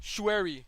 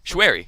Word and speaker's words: Choueri: It's Choueri. He's like, it's Chou yeah. and Ri. Oh, wow. Choueri. Choueri. Okay, very nice. Easy, very simple.